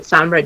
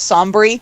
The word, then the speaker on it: Sombra: I don't know why, but Sombra does for some reason all the blasts and shit. Sombra's concept kind of... I like how my boyfriend... Much, pronounces his name. It's not Sombra, he goes Sombry.